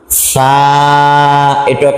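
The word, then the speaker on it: ث: টান তা সাটুক আলিফ পরিমাণ টান চা উচ্চারণের ক্ষেত্রে চা উচ্চারণ কিভাবে করবেন জিহ্বার আগা আগাটা বের করবেন হ্যাঁ সামনের উপরের দুই দাঁতের সঙ্গে লাগাবেন নরম কইরা সা জিহ্বার আগা সামনের উপরের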